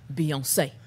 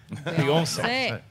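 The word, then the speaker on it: Beyoncé: actually according to how she spells it it's pronounced Beyonce Beyonce I here Christian haroff I might not take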